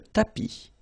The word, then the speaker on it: tapis: Remember final S not pronounced. Le tapis, le canapé, la bibliothèque, la cuisine.